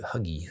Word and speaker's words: hygge: then pronounce it h Huggy hugie I guess because Y is really a u i don't know the